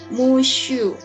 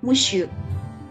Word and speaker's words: monsieur: Nah, ini dibacanya monsieur ya. Walaupun ada n di sini, tapi dia tidak ada bunyi eng-nya sama sekali ya untuk kata ini. Jadi dibunyikannya monsieur.